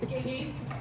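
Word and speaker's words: Gygi: Giggy's, it's over on 3rd South.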